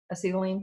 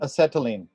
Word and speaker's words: acetylene: torch fuels like acetylene i know i didn't say that right yeah did i say it right this time acetylene acetylene acetylene okay that's kind of like gluten anyway um hydrogen for